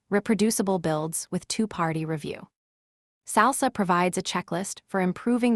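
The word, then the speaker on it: SLSA: SALSA, pronounced SALSA, stands for Supply Chain Levels for Software Artifacts.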